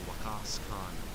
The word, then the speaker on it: Waqas Khan: Once again, I'm using an anglicized pronunciation of an Urdu name, Waqas Khan. I'm going for the Caucasian pronunciation. Waqas. Oh man. It's a long A, Waqas Khan.